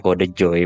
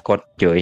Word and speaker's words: KodeJoy: Sausnya jadi bacanya Kode Joy, bukan Kode Joy seperti itu.